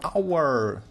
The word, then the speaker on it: hour: and here, pa-pa-pa-pam, the hour. So the station has a different sound. Why? Because the hour, H is a consonant, это согласная буква, но здесь она не произносится.